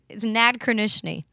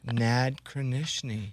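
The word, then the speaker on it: Nadkrynechny: Yeah, it's basically it's Nad Kranishny, which sounds like a sneeze, but yeah, it's got enough letters for the Mickey Mouse theme song. Nad Kranishny.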